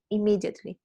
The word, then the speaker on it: immediately: other was immediately immediately it is written with double m but you pronounce only one you say immediately yeah no immediately but